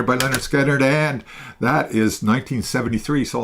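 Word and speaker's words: Lynyrd Skynyrd: And this is pronounced Leonard Skannard.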